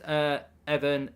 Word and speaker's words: Evan: It's pronounced Evan. He's Irish, not Russian, says Sam.